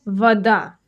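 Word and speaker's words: вода: The next word, voda. Voda. For example, mne nuzhna voda. Voda means water. I need water. Notice something interesting. The o in voda is actually pronounced like an a.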